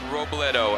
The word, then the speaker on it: Robledo: Jaeleen Robledo, and I do have permission to pronounce it that way. All right, you say it however you want. You roll that R, all right?